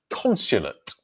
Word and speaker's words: consulate: Amit has the word consulate. Consulate. Consulate. So stress syllable, first one, consulate.